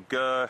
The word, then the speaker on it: Gir: protected forest in India, called the Gir forest, or Gir, however you like to pronounce it, G-I-R, and there may